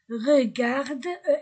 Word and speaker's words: regarde: A i aussi a u o aussi de la pâtisserie pâtisserie Pierre et Hélène regarde les gâteaux Pierre et Hélène regarde T ne se prononce pas regarde les gâteaux e A U comme Il semble bon, ils mettent l'eau à la bouche comme il semble.